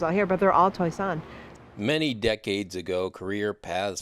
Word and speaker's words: Toisan: Toisan, not pronounced like it's spelled.